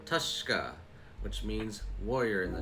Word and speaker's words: Tushka: It's pronounced Tushka. Tushka, which means warrior in the Choctaw language.